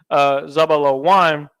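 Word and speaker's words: זבולן: And when you pronounce Zebulon in the ancient Hebrew, it's pronounced Zabalawan. Za, where's Za? Za, Ba, La, and then you have your Wa, and then you have your end letter Na.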